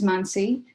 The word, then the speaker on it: Manasi: hi everyone, my name is Manasi. So that extra A throws people off. So I generally tend to say my name is like Nancy with an M, so it makes it easy for you to remember.